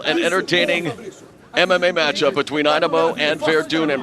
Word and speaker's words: Einemo: They come from all over the globe here to Pride Fighting Championships, and yep, his proper pronunciation is Olav Einemo.